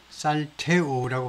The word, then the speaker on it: Saltillo: 최근에요 공장을 살틸로라고 발음하지 않고 스페니쉬에서는 이런 경우에 잠깐만요 제가 메모해 놓은 게 있는데 살틸로라고 발음하지 않고 살테오라고 발음하네요.